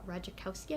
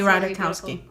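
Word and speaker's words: Ratajkowski: book My Body by Emily uh rikowski I believe her name is pronounced she is so beautiful Emily rowski rowski there we go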